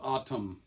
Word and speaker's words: ATUM: the Smashing Pumpkins autumn Billy says autumn autumn so pronounce autumn autumn atum anyways Autumn is